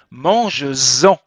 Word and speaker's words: mange-en: Et vous voyez, écoutez bien comment je dis mange-en. Je prononce, je fais la liaison.